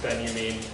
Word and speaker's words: Benjamin: So Walter Benjamin, one of the members of the Frankfurt School, spelt Benjamin, pronounced Benjamin.